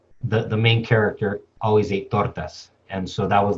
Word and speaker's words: tortas: And so she's referencing the tortas her mom used to make by first starting off by mispronouncing them as tortis.